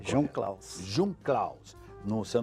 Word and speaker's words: Jungklaus: é alemão action um caos essa é a pronúncia tinham klaus de um caos num só não falou hoje